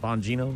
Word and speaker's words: Bonino: Trump naming Dan Bonino is that how you pronounce that Bonino am I close that's how you say it